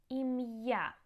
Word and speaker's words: Ім'я: So we also use the apostrophe in many borrowed words or foreign names to keep the pronunciation correct. So for example, musical, it means musical. Musical. Ім'я, name. Ім'я.